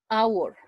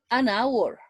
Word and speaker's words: hour: this case it is it's necessary to write h but but not pronounce the pronunciation is our hour an hour an hour but not